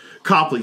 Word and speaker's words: Copley: Is that how you pronounce the name? Copley.